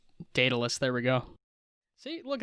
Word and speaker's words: Daedalus: Yeah, I think I don't know if it's pronounced Daedalus. Daedalus.